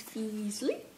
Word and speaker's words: Feasley: This is by Paula Emans Feasley, because it rhymes with Weasley.